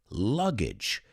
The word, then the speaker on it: luggage: words with me because a lot of people pronounce them age because logically they end with a g e however it's pronounced like bridge the word puente in spanish so baggage luggage it's a little trick for pronouncing those a g e endings or suffixes suficos and you thought